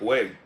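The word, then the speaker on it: wey: And so Bue changed to Gwe, and they were actually saying it like way. But over time, that G changed to a W, which is why you see people spell it with a W now too. They'll spell it like W-E-Y.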